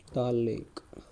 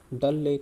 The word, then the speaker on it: डल लेक: सरकम navigated around दालनगर दाल लेक डल लेक होता है ना वैसे दाल लेक नहीं बोलते इसको डल लेक बोलते हैं आई होप मैं अब